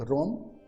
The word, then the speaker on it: RAM: है, और एक है रैम जिसको रैंडम एक्सेस मेमोरी बोला जाता है। भाई साहब इसको आप राम बोल के मत पढ़िएगा, हालांकि RAM इसका प्रोनाउंस हम लोग राम भी करते हैं, लेकिन कंप्यूटर के